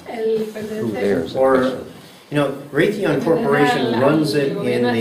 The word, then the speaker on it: Raytheon: Se llama Raytheon. Se escribe R-A-Y-T-H-O-N.